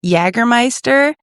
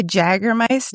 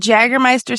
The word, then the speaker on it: Jägermeister: an American thing, but Jägermeister. And you always say Jägermeister. Yeah. And I'm like, why is that the one J that you pronounce and it's not correct?